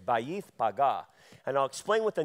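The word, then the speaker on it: Bethphage: and came to bayth paga which is we pronounce that in English Beth Page but that's not how you pronounce it it's bayth paga and I'll explain what the name means in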